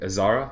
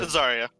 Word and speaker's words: Azaria: Azara? Is that how it's said? Azaria. Excuse me. Yeah, Azaria. Azaria, and head above deck.